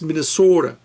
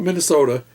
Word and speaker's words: Minnesota: to say the state it's Minnesota not Minnesota it's Minnesota got to emphasize that oh I'm learning you